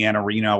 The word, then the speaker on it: Iannarino: Victor Antonio, Mike Weinberg, Anthony Iannarino, which I learned how to say his last name the right way, right?